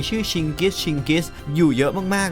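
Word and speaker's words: Чингис: แหละ นะ ครับ โดย เจงกิ เรา อาจ จะ อ่าน ใน ภาษา อังกฤษ ว่า เจงกิ แต่ ถ้า ไป อ่าน ใน ภาษา มองโกล จริง ๆ เนี่ย จะ อ่าน ว่า ชิกิ นั่น เอง เขา ก็ เลย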